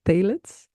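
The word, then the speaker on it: phthalates: mention are phits and you write that pH t h a l a t s but you pronounce it tets um these are substances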